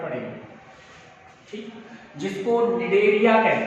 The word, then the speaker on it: Cnidaria: में पढ़ेंगे, ठीक, जिसको निडेरिया कहते हैं। निडेरिया के नाम से जानते हैं। तो निडेरिया में यहाँ पर सी साइलेंट है, इसके लिए कहते हैं।